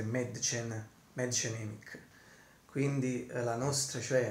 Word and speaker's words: Mädchen Amick: Appena letto anche la pronuncia precisa in tedesco, e a quanto pare prima dicevo Madchen, Madgen, ma adesso l'ho letta bene, diciamo dovrebbe essere Madchen Emick. Quindi la nostra, cioè Madchen Emick, la nostra grandissima Shelley Johnson.